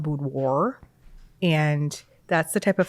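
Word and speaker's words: boudoir: The type of photography I did is called budoir. I think I'm pronouncing it wrong. I don't think it I think the French way is budwois. Budwoir. Um, but Wisconsin people call it budoir and that's the type of photography I did.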